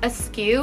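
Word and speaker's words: Asque: this envelope clutch style the brand is called askew i think but it's spelled like a little like weird a-s-q-u-e so it's kind of like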